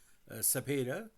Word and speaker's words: Cepeda: Now, Orlando Manuel Cepeda Pines, Cepeda, pronounced in the normal Spanish, was a Puerto Rican